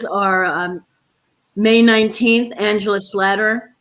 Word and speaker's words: Slatter: may 19th angela slatter slay actually i think it's slater like you know it's like i can never remember right but look it spelled like slatter but i think she told someone told me it's later and rebecca lone horse june